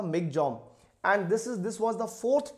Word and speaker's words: Michaung: is actually pronounced as Migjong. We call it Michaung, but the real pronunciation as per Myanmar, it is called the Migjong.